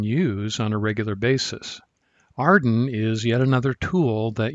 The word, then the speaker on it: AREDN: which is often pronounced arden based on the acronym made from its first letters arden provides a way